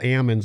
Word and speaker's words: almonds: the day and waddell's farming almonds and which are called ammons out here in california which i get corrected on all the time and farm pecans pecans